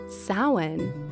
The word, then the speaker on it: Samhain: The proper pronunciation is actually Samhain.